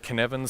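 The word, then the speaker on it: Cynefin: Dave Snowden and the model is called Canan spelled with a Cy NE F it's Welsh it's weird um but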